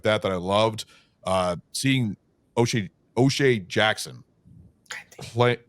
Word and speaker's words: O'Shea Jackson: Seeing O'Shea Jackson play. I said it right, right? Close. So close. Yeah, you got it right.